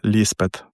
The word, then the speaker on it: Ліспет: Котгарський пастор дав дівчині ім'я Елізабет, а горяни пахарі вимовляли його ліспет.